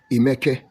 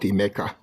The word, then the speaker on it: Emeka: The Igbo man called him Emeka. And the Emeka is spelled like Emeka. It ends with K-A. We call Emeke, not Emeka.